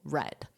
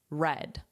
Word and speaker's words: read: The pronunciation is different but because this represents he or she one person I know it's the past simple red. And remember that pronunciation is exactly the same as the color red.